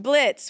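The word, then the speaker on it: Blitzø: Okay, we have Blitz. Blitz. And the O is silent. I'm sorry. I am such a fake fan. Blitz, what is Blitz posting on Craigslist?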